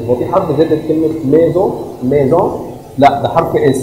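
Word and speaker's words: maison: هو في حرف زد كلمة ميزون ميزون لا ده حرف اس طب ليه سمعنا حرف الاس زد؟ لأن حرف الاس لما يقع ما بين دو فويال ما بين اتنين فويال بتنطق زد وده بمناسبة إن النطق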